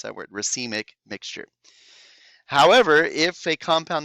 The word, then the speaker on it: racemic: of both enantiomers this is known as a racemic that's how you pronounce that word racemic mixture however if a compound that contains a